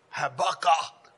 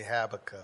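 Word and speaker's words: Habakkuk: another scripture for you Haba you got to pronounce it like that two and two y'all say habac but it's all kind of way just say Hab habby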